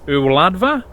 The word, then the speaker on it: Y Wladfa: Duncan from Wales to help out with the pronunciation. Hey, shwmai Paul, ti'n iawn? Right, rydych chi'n dweud e fel hyn, y wladfa and y wladychfa Gymraeg.